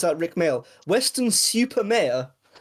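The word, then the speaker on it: Weston-super-Mare: You have to pronounce that Rick Male. Western Super Mayor.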